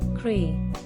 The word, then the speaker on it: creative: The pronunciation is very easy. 3 syllables, and the emphasis on second syllable. Creative.